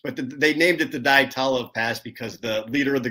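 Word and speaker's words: Dyatlov Pass: What, how do you pronounce that, Mike? Diatolov Pass.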